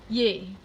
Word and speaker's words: yea: But if you would read this, and then if it's spelled Y-E-A, it's yay. Not yeah, or yay, but not yeah.